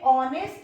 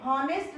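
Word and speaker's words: honest: शुरू हो रहा और ये ऑनेस्ट है, हॉनेस्ट नहीं है, इसलिए तो आ का प्रोनाउंसिएशन हो रहा है आ, ऑनेस्ट, वॉवेल साउंड निकल रहा है, इसीलिए अपन ने यहाँ एन लगाया हुआ है।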